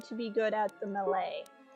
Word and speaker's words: melee: It's melee. I had a friend once who would always pronounce it melee, and it, like, caused me physical pain to hear him say melee, and I would always try to tell him that it was melee, and then he thought